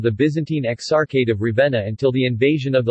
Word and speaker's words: Ravenna: Ravenna Italian pronunciation Ravenna also locally Ravenna listen bro Magnum Raveena